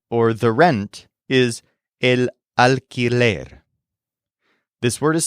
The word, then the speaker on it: alquiler: The fee that you pay, or the rent, is el alquiler. This word is spelled A-L-Q-U-I-L-E-R, alquiler.